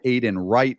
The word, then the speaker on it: Aiden Wright: ideological Cesspool the guy Aiden Wright with a silent W of course he's got